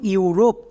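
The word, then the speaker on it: Europe: তাহলে আমরা আরো একটি এক্সাম্পল দেখে নেব যেমন ইউরোপ এখানেও দেখো শব্দের একদম শুরুতে ইউ আছে ইউ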